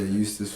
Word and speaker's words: Eustis: Yeah, Eustis, Florida. It's spelled with an E though, which is interesting. It's silent.